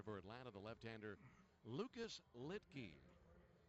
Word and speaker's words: Luetge: New pitcher for Atlanta, the left-hander Lucas Litke. Spelled Luetge, but pronounced Litke.